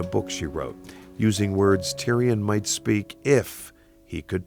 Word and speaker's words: Tyrion: Laurie explains why in a book she wrote using words Tyrion might speak if he could talk.